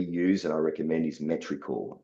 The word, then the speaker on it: Metricool: one that we use and I recommend is Metricool. It's spelled METRICOOL, Metricool.